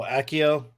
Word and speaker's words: Accio: How you pronounce that? Oh, Akio.